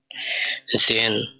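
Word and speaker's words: sehen: এটার বুকসটা বেরোন হবে এস এ হা এ এন, জেন। জার্মানিতে এস এস এর উচ্চারণটা হয় জয়ের মতো, জেন অর্থাৎ দেখা।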